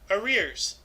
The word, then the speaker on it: arrears: paid earlier how huh oh okay yeah no it's spelled a-r-r-e-a-r-s r e r's I oh huh actually our ears arrears our ears okay so it's pronounced arrears okay